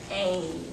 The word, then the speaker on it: cane: Cane. Cane. Okay, so we see the long A, we see the E, but we don't hear it, okay?